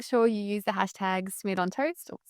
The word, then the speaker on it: Smerdon: this one, make sure you use the hashtag smid on toast or smurd on toast with no a if you want the correct correct pronunciation.